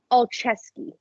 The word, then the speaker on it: Olszewski: Olszewski. Olszewski. Okay. He sounds like a hockey player. Yeah, he does. It's spelled like a hockey player.